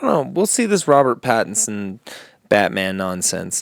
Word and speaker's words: Pattinson: name peterson robert robert patterson robert pattinson patterson is it pat or it is pattinson pattinson i've been saying it wrong this whole time robert pattinson future batman